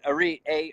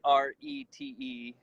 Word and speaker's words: Arete: And Arete is, they pronounce it differently, but we're in America and we'll just screw it up and try to skate by. But Arete, Arete, and Arete means excellent or moral excellence.